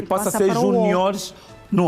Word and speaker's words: juniores: Os juniores não tem acento gráfico, é apenas acento tónico.